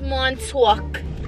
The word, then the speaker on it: Montauk: Go into Montauk.